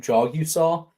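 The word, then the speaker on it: Jagusah: Mike, did you know you pronounce his last name Jogusah? This was a hot topic of. Did I really? Jagasaw. Yeah, no. No, Well, yeah, Kyle has it's it right. Jogusah.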